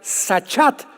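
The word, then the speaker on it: שחת: También es importante porque la palabra hebrea sachat se escribe con s Samuel y ch como suena sachat con té de tío al final y esta palabra significa corrupción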